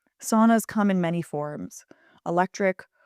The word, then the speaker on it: sauna: In Finnish, sauna is actually pronounced sauna. So, the first part rhyming with cow, sa, not sauna as in English.